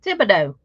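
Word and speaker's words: Thibodaux: how to pronounce that i said it's pronounced thibodeaux she said but it's got e-a-u-x on there i said i know and that's how the ea ux is pronounced it's thibodeaux now my husband is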